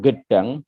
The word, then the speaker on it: Gedang: Kiai Hashim lahir di Gedang, ya, bacanya Gedang, Jombang Utara, Jawa Timur, pada tahun 1287.